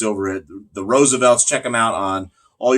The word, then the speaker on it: RSVLTS: shirts from is called the Roosevelt and Roosevelt is spelled with no vowels ORS VLTs they do a lot